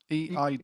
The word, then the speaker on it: Eid: Andrew Doyle says, I don't know how to pronounce Eid. E-I-D.